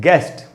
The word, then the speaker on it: guest: ये वर्ड है दोस्तों गेस्ट, GUEST, गेस्ट, इसमें U का उच्चारण नहीं हो रहा।